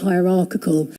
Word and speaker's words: hierarchical: It's pronounced just like hierarchy, but at the end we changed. Instead of saying hierarchy, we say hierarchical.